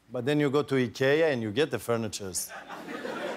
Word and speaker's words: IKEA: And I'm like, but then you go to IKEA and you get the furnitures. And then the broker goes like, rich people, they don't buy furnitures in IKEA.